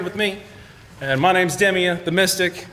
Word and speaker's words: Demea: I know it's pronounced Demea, not Demea, but I mean, that is a funny flip there from Salem, so fair play.